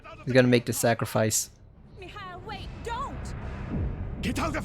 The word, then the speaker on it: Mikhail: Mikhail, wait, don't! Get out of here! Hurry! Just a little closer. Mikhail. Mihail. That's how she pronounces it.